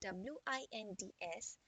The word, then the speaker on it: winds: you know this went and you know the pronunciation wind is moving of air so here the winds spelling is w-i-n-d-s and it is the same spelling in the